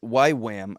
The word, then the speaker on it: YWAM: denver wow and so why graham why wham i keep i don't know why i keep saying it wrong why wham as a